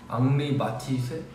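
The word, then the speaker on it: Henri Matisse: 헨리 앙리라고 읽는 건가? 앙리 마티세? 마티세? 앙리 마티세? 앙리 마티세? 드라마라만 그게든 나 적당히 좋아하는 게 그게든 나 적당히 다가가는 게 천혜원 닮았다고? 어우 좀 닮았네. 어, 앙리 마티즈 맞나봐요.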